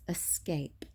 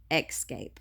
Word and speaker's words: escape: Nazi about that that an escape it's escape not xscape I don't know if